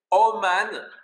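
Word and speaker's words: אומן: Faites attention, ça s'écrit avec deux kamat, mais ça se prononce O.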